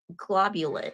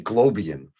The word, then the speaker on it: globulin: So that um So you say how do you say the G? Globulin. See, I say globian.